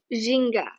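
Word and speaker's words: ginga: cool the two movement the first one is jinga zhinga yeah indra is the movement now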